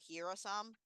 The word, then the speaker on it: Hyrsam: Hearisam. So Hirosam, which is how it's pronounced, not necessarily how Owen planned.